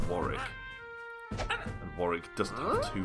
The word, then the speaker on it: Warwick: how you spell war wari is actually the name of a place and um a pretty nice Castle actually in England and it's spelled w a r w i c k that's not Warwick that's wari and Warick doesn't have